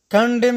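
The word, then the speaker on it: condemn: بل چې دی د ان توری کله چې د ام توري څخه مخکې راشي نه تلفظ کېږي، لکه کنډم یعنی غندل.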